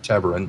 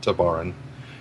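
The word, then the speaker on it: Tevarin: We know that there are still colonies of the Tebaran out there, which is pronounced Tebaran, not Tabaran.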